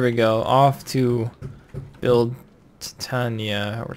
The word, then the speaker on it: Titania: Off to build Titania or Titania. It's Titania. It's that's how it's pronounced, right? Yeah, like titanium.